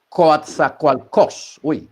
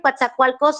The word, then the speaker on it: Coatzacoalcos: Grijalva uzumacinta el Río Papaloapan y el río Coatzacoalcos para que sepa la pronunciación es el Río Bravo o sea los